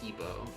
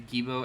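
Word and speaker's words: Geebo: I'll spell it out in chat. Hold on. G-E-E-B-O. Gibo.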